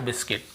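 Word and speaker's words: biscuit: यदि किसी भी है ना ए इ आई ओ यू के पहले यदि आपको यू मिलता है तो फिर हमें उसे नहीं पढ़ना है। ऐसे पढ़ना है। गाइल, guild, guilt, guitar, guard, बिस्किट।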